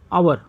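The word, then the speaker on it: hour: क्यों करेंगे, अब देखना, इसको हम हावर नहीं पढ़ते, हावर नहीं पढ़ते, इसको पढ़ते हैं आवर, आवर पढ़ते हैं तो आवर में क्या हो जाएगा, अ आया, इसका प्रोनाउंसिएशन ओ का आ रहा है, यच का तो साउंड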